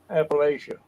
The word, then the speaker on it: Appalachia: here or you know Appalachia I always say always best way to to say Appalachia and and just think I'll throw an Apple at you Appalachia there's so many so